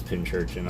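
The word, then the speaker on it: Pincurchin: It is Pinchurchin. Okay, cool. I thought it was like Pokio or Pokio-kyo.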